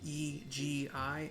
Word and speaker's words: Egi: I've also decided to pronounce E-G-I as Egi, because Egi I didn't like.